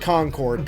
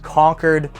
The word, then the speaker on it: Concord: that's how it's spelt I can tell you as a New Englander that is pronounced conquered like conquered anyways let's get to